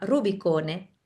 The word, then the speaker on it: Rubicone: Lo llamamos rubicón porque el rubicón que se llama rubicone porque es italiano. Entonces, la e hay que estar al final.